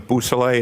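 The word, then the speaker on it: Beausoleil: Could you say that name again and spell it for us, Yes, please? sir. It's Trooper Jason Bousselet.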